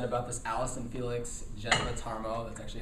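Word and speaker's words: Jeneba Tarmoh: A lot has been said about this Allison Felix Geneva Tarmo. That's actually how you pronounce her name.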